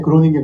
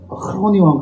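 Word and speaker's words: Groningen: 그래서 전부 G니까 GR에서 그로닝겐이라고 불러요. 근데 기차표 살 때 그로닝겐 그러면 아무도 못 알아듣고요. 흐로닝원 간다 그렇게.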